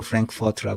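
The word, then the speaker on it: Frankfurt: 프랑크푸르트의 이름이 성이 프랑크푸르트에 그 영어 발음으로 프랭크포트 그러는데 평등은 없다 문제는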